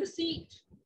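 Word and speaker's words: receipt: Name here over here, this is अ रसीट, B silent, it will not be called रसीट, रसीट we will be calling it, और हिंदी और पंजाबी में इसे बोलेंगे रसीद, किसी चीज की रसीद मिलना, राइट।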